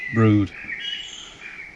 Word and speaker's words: Brewood: We're at a place called Brewood, which is spelt Brewood but pronounced Brood, and it's a fine